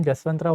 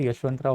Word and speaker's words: यशवंतराव: Even जसवंतराव Holkar भी अब मर चुके थे। जसवंतराव Holkar, यशवंतराव Holkar, this is वन एंड the same personality. Jaswant या फिर यशवंत, बेसिकली ये प्रोनाउंसिएशन डिफरेंशिएशन है फिर, ओके।